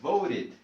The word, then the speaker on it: voted: Entonces aquí solamente recordamos que cuando terminan con un sonido T o D, mira, aquí están 3 T's, aquí está la D, T, D. Entonces el sonido o la pronunciación para el sufijo ed es id. Entonces voted, voted, voted, voté, votaron, votamos.